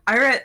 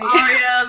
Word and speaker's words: Eira: It's pronounced Ira, not Ira or anything. Please say it properly. Aria, like they call me in conventions.